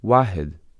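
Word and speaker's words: واحد: In Arabic, the word for one is wahid, pronounced wahid, as shown in the table.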